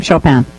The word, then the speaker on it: Chopin: for the livestream audience how does Jim pronounce his last name Chopin in the composer as in the composer please don't ask me